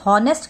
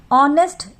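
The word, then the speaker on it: honest: Pronounce सही करना है, अगर आप इसे हॉनेस्ट करके ह कर दोगे तब तो आप इसको व्यंजन करके अ मान लोगे और ये हो जाएगा गलत। ऑनेस्ट, इसकी प्रोनाउंसिएशन है ऑनेस्ट यानी ऑ, इसका पहला अक्षर है ऑ और ऑ है आपका एक स्वर, तो ये है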